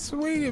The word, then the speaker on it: Saweetie: Her name is Sweetie, man. That's what they say, right? Say it how it's spelled.